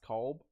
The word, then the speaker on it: Kolb: Someone just said Cole is the worst character. First off, it's pronounced Kolb, and yes, he does suck.